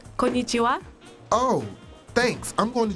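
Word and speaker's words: こんにちは: by rogers this october still two-nothing detroit kenai kanaichi it's pronounced konichiwa oh thanks i'm going to japan you ever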